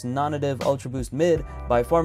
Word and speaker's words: Nonnative: shoes known as the twin strike now I pronounced nonnative the way you're hearing me say it right now which is nonnative many people have pronounced it non-native I'm almost